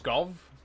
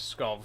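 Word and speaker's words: Pskov: to Is it pronounced Scov? I think the P is silent. Maybe we should go to Scov because that's only slightly further and it's a much better paying job. We'll take watermelons to Scov.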